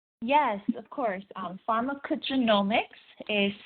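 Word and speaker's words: pharmacogenomics: Um, pharmarmaccogenomics is spelled uh p h a r m a c o g e n o m i cs pharmarmacco genomics.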